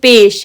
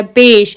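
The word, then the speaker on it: پیش: ये पेश है, PEH, मैंने रूमन में भी लिखा है ताकि आपको इजी हो जाए प्रोनाउंस करना. आप वर्ड्स जोड़ के पढ़ो. देखो ये पे, ये शीन हो गया, पेश. इसका क्या, यू का साउंड निकलता है.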